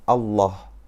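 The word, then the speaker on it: الله: lam yang terdapat pada lafadz Allah yang dibaca tebal apabila didahului oleh huruf yang berharakat fathah atau dhummah dan dibaca tipis apabila didahului oleh huruf yang berharakat kasrah Adek Biasanya kita ini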